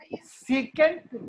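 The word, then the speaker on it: sec: सीकेंट जिसको हम सेक pronounce करेंगे तो सेक वो कॉसे का है।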